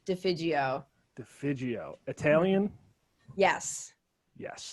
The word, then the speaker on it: Defigio: it go ahead defio so close it's soft g defijio the fidgeo italian yes